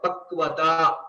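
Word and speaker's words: पक्वता: combination of two Vyanjanas, we will have to ensure we are pronouncing it as a Vyanjana. So which is a half letter. K plus v. Kv, kv, okay, kva, pakvata.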